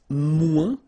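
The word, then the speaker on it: moins: to say less it's mu in French so no discussion about the S here don't pronounce it okay mu du and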